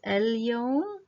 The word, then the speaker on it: اليوم: The last word also has a L, so it's el-yawm. The letter after it does not have a shadda, so this is for sure a moon lam.